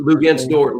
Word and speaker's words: Luguentz Dort: Luguentz Dort, Lou Dort.